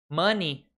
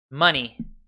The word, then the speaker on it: money: money esquece o e não tem letras silenciosas mani a pronúncia certa é mani mani palavras Essa é a dica mais complementar